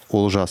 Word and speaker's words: Олжас: говорить, знаешь, Олжас теперь. Да, я хочу похвалить Мишу, что он начал все-таки произносить казахское «о» как «о».